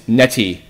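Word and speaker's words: Netti: the currency of the world of Tome is Neti. It is spelled N-E-T-T-I.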